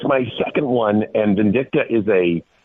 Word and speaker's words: Vindicta: to make that all right on and I mispronounced it how how do you say it the name of the movie vcta vindicta okay I don't know why I'm adding a